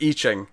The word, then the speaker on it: I Ching: Oh, by the way, it's not I Ching, it's I Ching. One of our regulars has commented on the last 2 issues we discussed on this, correcting our pronunciation, and I said, I promise I'll remember next time, and I haven't been. I Ching. I Ching. It's pronounced I Ching.